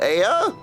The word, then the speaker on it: Ea: When the vibrations of vocal folds was still required to convey our thoughts and intention, Aya, I believe, was the pronunciation used when we were referring to our people. Aya?